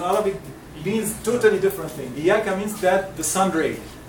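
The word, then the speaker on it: إياك: And Iyaka, yes, and Iyaka also. It's double, okay? Iyaka, not Iyaka. Iyaka only without double, it is in Arabic, means totally different thing. Iyaka means that the sun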